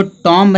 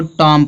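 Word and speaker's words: tomb: Silent होता है। तो इसको टॉम नहीं पढ़ेंगे। इसको टॉम पढ़ेंगे।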